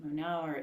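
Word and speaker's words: Munawwar: it's moon now or it's pronounced my an hour and munawar is bringing that Light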